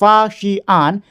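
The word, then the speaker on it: Faxian: Chinese traveller फाशियान pronounced S फाशियान visited India in early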